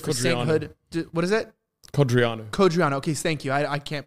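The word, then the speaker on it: Codreanu: Cordonau, the leader of the Iron Guard, if I pronounced that right, might even be considered for sainthood. What is it? Codriano.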